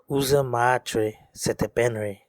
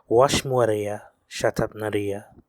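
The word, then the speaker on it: Usermaatre Setepenre: Up until now, you've probably heard it pronounced in this way: Uza Maatre Setepenre Ramses Meriamun, or even Uza Matra Setepenra Ramses Meriamun. However, the actual way this name would have been vocalized is Washmuaria Shatapnaria Riamashesha Miamana.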